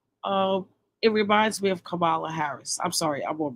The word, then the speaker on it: Kamala: The lady name is Kamala, not Kamala.